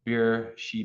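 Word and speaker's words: Beersheba: Isaac in beera um I say that the B can be a v that's why I was pronouncing it that way in Hebrew um so beer Shea beera Bea um God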